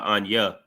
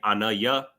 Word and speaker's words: ana: So, uh it's important that you pronounce that uh ana so that you saying I or I am.